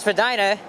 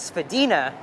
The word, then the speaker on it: Spadina: Here's Spadina Road, but some people say this part of Spadina, you pronounce it as Spadina, and then south of Bloor, it's pronounced as Spadina, the correct way.